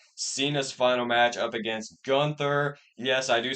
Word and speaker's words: Gunther: I don't say Gunther because I looked up the real German pronunciation of his name, and it's actually closer to Gunther than it is to Gunther, so I say Gunther now.